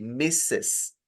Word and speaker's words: Mrs.: Pero tiene que pronunciarlo así, Mrs. como que dice Mrs., es decir, como que son varias, pero no son varias, es una.